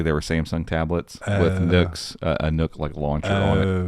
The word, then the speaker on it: NUC: Intel says it's pronounced Nook, like luck Nook, or like truck.